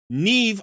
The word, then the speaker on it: Neve: She's Neve, I believe this name is pronounced, in the Sylvan Watchers faction.